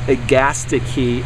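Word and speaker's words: Agastache: is um this is ATI key um it's pronounced agasti key and this one's called it's a new one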